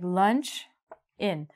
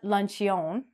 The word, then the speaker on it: luncheon: So it sounds like lunch in, not luncheon.